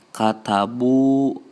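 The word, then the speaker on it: كتبوا: Nah, dalam bahasa Arab itu biasanya kalau u itu kalau waw mati biasanya ditambah alif juga gitu penulisannya. Jadi tapi tetap dibacanya u gitu.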